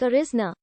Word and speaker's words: Arizona: blatcher's the platter sonora to the european settlers their pronunciation sounded like arisna the area is still